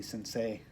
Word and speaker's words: Sensei: That would be Sensei. Sensei, like a bonsai.